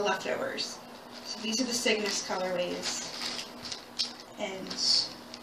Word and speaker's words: Cygnus: So these are the Cygnus colorways, and which sounds a lot when I pronounce it like sickness. It's not.